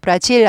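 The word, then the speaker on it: Brazil: ian 내가 주어 나는 브라질 사람입니다 까지가 나라 이름이에요 브라질 질 아니에요 질 아니고 브 발음을 또 연습하시고 그랬어요 발음 XY Z 발음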